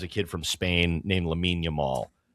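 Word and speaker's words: Lamine Yamal: Lamin Yamal. Yeah. Who that that pisses me off that his name is pronounced You can't have Yamin and then Lamal. No. Lamin Yamal.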